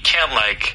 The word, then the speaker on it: can: 그러니까 can, C-A-N은 그냥 can 해도 되고 약간 큰 해도 돼요.